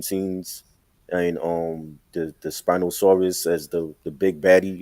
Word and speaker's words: Spinosaurus: the scene with um the Spinosa Spino Spinosaurus how you say it uh the Spinosaurus.